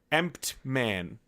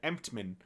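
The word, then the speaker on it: Emtman: Steve Emptman. Emptman. I'm trying not to say an N in there. Emptman.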